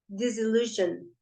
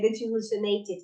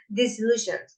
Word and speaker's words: disillusioned: The pronunciation of that word is disillusioned. Yeah, don't go to the last syllable. Disillusioned. Yeah, because we tend to say something like disillusionated. No, disillusioned. Okay, and that's the same of disappointed.